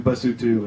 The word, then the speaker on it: Basotho: It looks like Lesotho. The right. Tribe is Basotho. And they speak Sesotho, but it's actually pronounced Lesotho, Basotho, and Sesotho, which I learned once I got on the ground there.